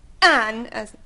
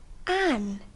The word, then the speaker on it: Anne: نه این ان اون Not Anne. Anne. You must pronounce it correctly. Anne.